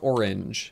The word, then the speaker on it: orange: Yeah, I say orange. One yeah, syllable. Orange.